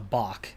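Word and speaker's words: balk: a bulk with an l but it's a bach how it's pronounced a bach is uh an illegal pitch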